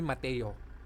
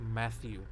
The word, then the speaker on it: Matthew: i pronounced matthew matthew matthew that's how i pronounced it they called me mateo mateu so when i started working one of